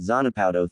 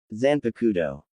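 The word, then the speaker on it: Zanpakutō: What's that Zanapow thing?" Eno asked, saying it wrong. "Zanpakudo," Jeriah corrected.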